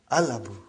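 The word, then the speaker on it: الأب: So without anything in front, I will pronounce it as Al-Abu. I will pronounce it as Al-Abu. So I did pronounce Lam.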